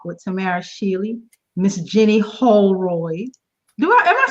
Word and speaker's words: Houlroyd: Tamara Shealy, Miss Jenny Houlroyd. Am I saying your name right? Yes, you are. You're doing a great job saying my name. I get name. it wrong. No, it's Houlroyd. That's right.